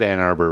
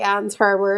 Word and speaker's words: Ann Arbor: didn't say it right no you said ann arbor right you were right i thought i did say anne's harbor or something but no you you did it right you did it right